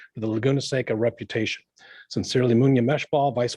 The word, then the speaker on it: Laguna Seca: report that lagoon is taken with weathertech raceway laguna seca i'll say it correctly events continue to attract